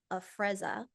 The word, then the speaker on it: Afrezza: So what is, you pronounce it Afrezza, okay?